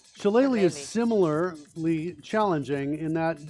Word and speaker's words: shillelagh: as well okay cool so it's shillelagh shillelagh is similarly challenging in